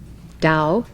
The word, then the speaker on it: Tao: the tao is the key to our immortality dao in chinese which as you know is spelled t a o dao means road way or path tao has also